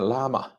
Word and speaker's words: 喇嘛: 再往后，上期读评，在美国还没听到过有人把拉玛念成亚玛的，都是念拉玛。